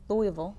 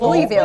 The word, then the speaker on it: Louisville: So here in Louisville, so looking at, and I'm working on pronouncing Louisville, not Louisville. Louisville.